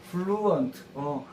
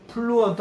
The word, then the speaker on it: fluent: 아, 가서 선생님이 onto가 말하는 to가 플루해진다 따르면 fluent, fluent. F 발음은 fluent 안 하고 윗니로 아랫니를 살짝 물을 아래서 이것도 기억하면서 fluent 이렇게 해봐야 돼요.